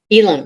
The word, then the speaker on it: Elam: other a long time and this is Amanda Alam am I pronouncing your name correctly Amanda elim yes elim good and um Amanda is the